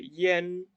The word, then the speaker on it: yan: La IAN, por ahí ustedes habrán escuchado que yo dije, en vez de decir yang, dije yen. Bueno, esto es porque con algunas iniciales, esta letra va a adoptar un sonido distinto.